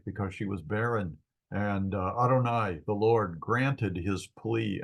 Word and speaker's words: Adonai: The vowels that are provided for this word are the vowels for Adonai. So you usually pronounce it Adonai.